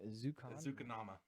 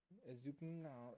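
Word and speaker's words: Ezukanma: Ezukanama. There's no vowel in between the N and the M. Yeah, but that usually makes a num. Ezukanama.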